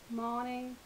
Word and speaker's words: Moning: by Karen Marie morning according to our website it's pronounced morning I don't know um